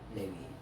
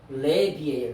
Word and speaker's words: 레비: 레위인들이 레위 발음은 뭐예요 레위는 독일 발음 레비는 히브리 발음 헬라어로는 류이스 이렇게 영어로는